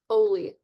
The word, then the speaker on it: Ole: Oh, it's pronounced Oli, like goalie or holy, Hmm.